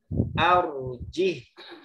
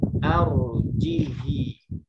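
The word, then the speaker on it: أَرْجِهْ: Arjih, mestinya dibacanya arjihi. Tapi dia pada posisi ini dibaca sukun.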